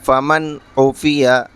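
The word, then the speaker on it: فمن اوفیٰ: کے دکھا دیتے ہیں۔ فا زبر فا، میم نون زبر من، فمن، عین پیش او، فا زیر فی، او فی، یا زبر یا، او فی یا، فمن اوفیہ۔ تو اب یہاں کیا قاعدہ ہو رہا ہے؟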